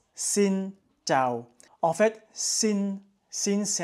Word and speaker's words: Xin chào: donc ça se prononce sin Cho en fait sin sin c'est un accent neutre et Cho c'est un accent qui descend donc c'est il faut bien descendre sino et en fait